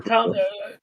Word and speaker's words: Thom: Is it Tom or Thom? Just say Thomas. It's Tom easier. Tom.